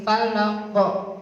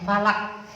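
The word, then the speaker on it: فلق: Falaq qaf juga huruf qalqalah Bapak Ibu. Jadi membacanya juga mantul qafnya. Qul a'udzu birabbil falaq. Falaq tidak hanya falak gitu aja.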